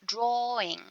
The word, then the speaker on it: drawing: And when it comes to this word, drawing, we don't say w, just drawing.